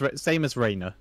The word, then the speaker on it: Rhaenyra: Same as Rhaenyra. But Rhaenyra is A-Y and... Yes, but it's still pronounced the same.